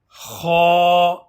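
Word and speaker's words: خ: Kha. Kha has a heavy sound, so you should pronounce it as Kha.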